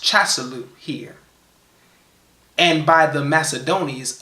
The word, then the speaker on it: Casalau: month, which is by us called," and it's pronounced Casalau here, "and by the Macedonians Apelles, in the